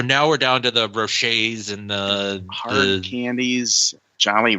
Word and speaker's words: Rocher: How do you say it? Rocher? Rocher. I Ferrero really Rocher. If we say it's Ferrero Rocher, so that'll get us two candy companies because they merged at one point.